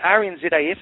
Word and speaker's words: RNZAF: Now, is it the RNZAF, am I pronouncing that correctly? Yes, you are.